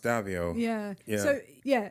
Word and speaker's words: Daviau: might not be pronounced davio yeah so yeah if I was pronouncing it as French I would pronounce it davio okay but on the